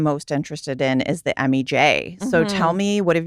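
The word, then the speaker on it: Emi Jay: what I am most interested in is the MEJ. So, tell me, what have you got over there? So, if you guys aren't necessarily familiar with MEJ, it's spelled E M I and then J A Y.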